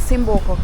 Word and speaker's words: Cimboco: Oh, so the correct name guys is Cimboco. Can you remember I told you after I follows a C, it's a soft C.